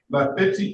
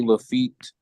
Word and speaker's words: Lafitte: So, Lafitti, Lafitti. Give me the correct pronunciation if I got that wrong. I apologize. Your Honor, it's Lafitte.